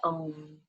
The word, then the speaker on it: Om: So we'll chant together the sound of one Om, which has 3 syllables, ah, oo.